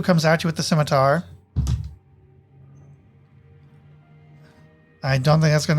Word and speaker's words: scimitar: So Goblin 2 is going to pull out its pronounced scimitar You mean to not call us schematter? It's not called a schematter.